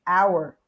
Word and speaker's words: hour: Apple, orange, ear, elephant, hour. Eu não pronunciei esse H, eu pronunciei o O direto, hour, honor, ou seja, an hour, an honor.